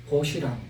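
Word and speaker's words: 벗이랑: 보시랑, 시옷이 다음 음절에 첫 소리로 발음돼서 보시랑 이렇게 발음이 됩니다.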